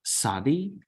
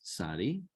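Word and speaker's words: צדי: Next we have sadi. All right. And here it is that sound that you get nuts. This is a very Hebrew sounding, very distinctive Hebrew sound.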